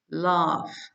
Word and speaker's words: laugh: a bird laugh laugh as we know G in the end of the word it's pronounce it f laugh they are laughing laughing